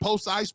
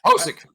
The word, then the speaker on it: Pocic: Is it Pocic, Pocic, whatever? Pocic. Pocic.